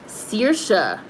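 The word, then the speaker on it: Saoirse: how what how is how is it pronounced that way s-a-o-r-i-s-e and is pronounced sirsha okay that's episode 10.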